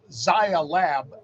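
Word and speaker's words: Zai Lab: based company uh and Zaya lab I believe is how they pronounce it but zlab is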